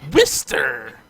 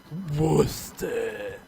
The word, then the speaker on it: Worcester: It's pronounced Worcester. Worcester.